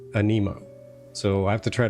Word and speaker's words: Aniimo: But, uh, now every every character in the game is pronouncing them anemo.